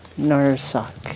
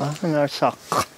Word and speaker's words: Narsaq: little bit different than a Q at the end. So, it's you know, but the final Q is really usually pretty well pronounced.